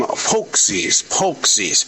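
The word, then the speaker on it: pączki: I'm going to call them Pokesies. Even though it's spelled Paczki.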